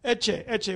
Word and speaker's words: Ecce: Ecce, which is spelled E-C-C-E, Ecce.